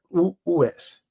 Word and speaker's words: Virtus: Que nome dessa empresa está chamado Virtus, e está pronunciado Virtus.